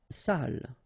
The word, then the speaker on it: salle: Salle. Une salle. Okay, so even if you get the double L here, it will be still the same pronunciation as this one.